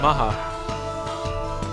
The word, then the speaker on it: Macha: That's how you pronounce her name too, Macha.